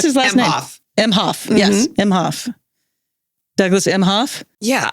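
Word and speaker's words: Emhoff: president yes Douglas emof emof how do you pronounce his last nameof mhof yes mhof Douglas mhof yeah I mean everybody's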